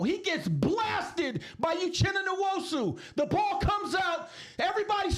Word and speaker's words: Nwosu: Uchenna Nwosu, and announcers, can you get my guy's name right? Did you hear what he was saying? No. He was not pronouncing it correctly. It's Nwosu.